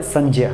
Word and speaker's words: संज्ञा: पहला विषय है 'संज्ञा', जिसका सही उच्चारण 'संज्या' है। लेकिन आम बोलचाल में हम इसे 'सांग्या' कहते हैं।